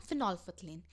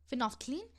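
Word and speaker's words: phenolphthalein: इसको वैसे फिनॉल्फथलीन बोलते हैं, फिनॉल्फथलीन। वैसे अगर इसकी स्पेलिंग लर्न करनी है तो इसको हम ऐसे भी बोल सकते हैं, फिनॉल फथलीन, लेकिन इसका एग्जैक्टली इसकी प्रोनाउंसिएशन इज फिनॉल्फथलीन, फिनॉल्फथलीन, ठीक है।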